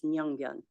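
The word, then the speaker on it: Yongbyon: that highway from Pyongyang, there is a tiny little side that says Myeongbyon, which is how it's pronounced in North Korea.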